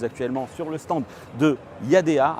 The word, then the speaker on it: Yadea: sur le stand de yadea alors à prononcé plus exactement y a 10 si vous souhaitez le dire à la chinoise en tout cas c'est comme ça qu'il faut le prononcer oui c'est un constructeur